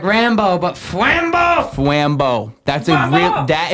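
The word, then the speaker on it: Fwambo: you know f w a m b o flambo it's real easy to spell how it sounds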